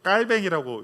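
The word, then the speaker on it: Calvin: 칼빈도 마찬가지예요. 깔뱅이라고 이렇게 발음을 해요.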